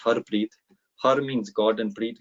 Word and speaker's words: Harpreet: So my name is Harpreet, which is pronounced Harpreet.